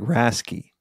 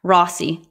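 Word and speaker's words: RACI: need to be informed sounds like rasy is rasy Rossi r a c i rasy that's what how I would pronounce it rocky rocky Ras Rocky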